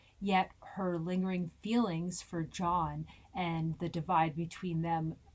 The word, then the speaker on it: John: It has an O in it, Chris. John. Pronounce it right. You sound Dutch.